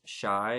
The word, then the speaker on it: Chai: His name's Shai. It's spelled Chai, and he's a fairy.